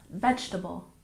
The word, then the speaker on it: vegetable: salmon number 19 vegetable we tend to drop that second second e sound and we stress the first syllable vegetable vegetable and last but